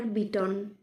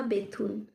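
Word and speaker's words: Bethune: দুইজন ইংরেজ এদেশের লোককে অকপটে ভালোবাসিতেন, একজন ডেভিড হেয়ার আর একজন ড্রিঙ্ক ওয়াটার বিটন বা বেথুন। ইহার নামের প্রকৃত উচ্চারণ বিটন, কিন্তু এদেশে বেথুন হইয়া পড়িয়াছে।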